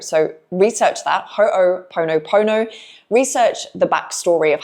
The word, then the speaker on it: Ho'oponopono: Now, I might muck up the way that this is pronounced, so just bear with me, but there's a Hawaiian forgiveness practice called Ho'oponopono. So, research that. Ho'oponopono.